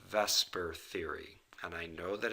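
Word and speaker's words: VSEPR: is based upon a theory that is called Vesper Theory and I know that it says the supper model but they pronounce it and Vesper in order to make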